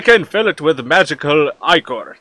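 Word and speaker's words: Ichor: fill it with magical I core that's pronounced i corps choose your I Corps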